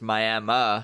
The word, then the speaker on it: Miami: Which is spelled like Miami, Florida. Yeah. But it's Miami.